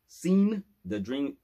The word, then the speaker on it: SeenDaDream: And it's pronounced SeenDaDream, SeenDaDream. All right.